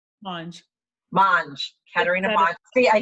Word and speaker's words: Monge: Monge.